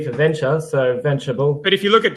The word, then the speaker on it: Venturable: Yeah, so it's supposed to be just venturable, as in understandable, observable. So it's just a natural extension of the word.